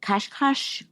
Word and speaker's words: Cascais: Cascais?